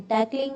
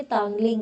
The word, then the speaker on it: तांगलिंग: लॉर्सर, परयू, टैकलिंग, टैकलिंग नहीं है ये तांगलिंग है, तांगलिंग है इसको, टैकलिंग स्पेलिंग गलत है।